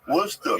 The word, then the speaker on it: Worcester: that use it for a steak sauce oh Worcester Worster yeah yeah look weird I was 2010 I